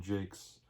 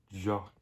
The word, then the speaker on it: Jacques: called redwall by brian jakes i've been pronouncing his name wrong for years it's actually jake's but i've been saying jock all the time brian jake